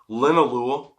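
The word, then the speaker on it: linalool: Linolu. Okay, which I've been pronouncing wrong for so long. Lol. It's linolu.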